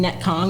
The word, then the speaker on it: Netcong: And I actually want to talk about that cuz, you know, I know that you operate in Netcong. That's That's how you pronounce it, right?